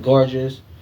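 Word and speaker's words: Gorgias: So, and to be truthful, his I think in the Greek or in the Latin, his name is pronounced gorgeous, but I refuse to call another man gorgeous. So, his name is Gagias.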